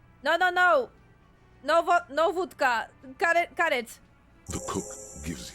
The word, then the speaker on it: wódka: Or proper pronunciation Polish, wódka. Because it's actually spelled the way like you said, like we write it in Polish. So I'm guessing we are saying it in the Polish way.